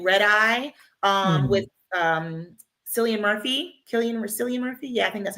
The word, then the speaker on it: Cillian: Cillian Murphy? Yeah, I think that's how you pronounce it.